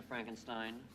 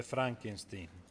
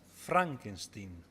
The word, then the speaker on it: Frankenstein: Frankenstein. Si legge Frankenstein. I beg your pardon? Il mio nome si pronuncia Frankenstein.